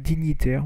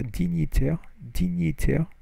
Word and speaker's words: dignitaires: dignitaire, et deux autres dignitaires, where you don't pronounce the G, et deux autres dignitaires, était brûlé vif à Paris.